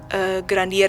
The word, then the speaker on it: Grandier: Itu ya, nama aslinya sih Urbain Grandier ya, cuman itu kan French gitu, jadi bacanya kayak gitu.